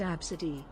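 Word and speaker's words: Abcde: license the boob song worst kid's name was AB pronounced absidy the ABCD e oh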